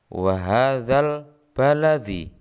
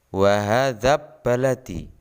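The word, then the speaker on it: وَهٰذَا الْبَلَدِ: Cara membacanya wa hadzal baladi. Jelas, alnya dibaca jelas, bukan wa hadzab baladi.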